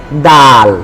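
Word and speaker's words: د: আমরা বুঝতে পারব এইযে আমরা এখন দাল শিখেছি দা এটা কিন্তু আ সাউন্ড তাইলটা কি সাউন্ড? দাটা কি সাউন্ড? আ সাউন্ড। আ সাউন্ড হওয়ার কারণে দেখেন জিহটা কিন্তু স্বাভাবিক। তাই না? মোটা হয়ে এটা ফুলে যায় না। কারণ এটা আ সাউন্ড।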